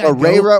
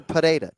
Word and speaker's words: Pereira: There's no H. God damn it. I've been practicing too, John. Okay. No H, bro. Usually Pereira or Pereira. No fucking H.